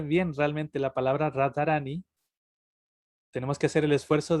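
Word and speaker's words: राधारानी: En este caso la vocal cambia en Radharani, sino que se dice ni.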